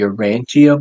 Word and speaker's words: Urantia: a book called the Urantia book say it again say it again Urantia oh are you saying Gematria no it's uranthia like it with like an E I think if I